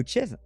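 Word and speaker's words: Kyiv: la ville proche de kiev qui alors il faut commencer kif si on veut prononcer façon ukrainienne le 1er avril mais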